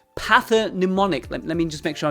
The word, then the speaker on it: pathognomonic: Pathonnemonic.